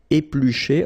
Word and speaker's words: éplucher: Okay, remember er, because these are verbs here. Griller, pocher, éplucher. Okay, you pronounce them A. Okay, even if you've got this R. Okay, this combination of two letters, R at the end, will give you the sound E.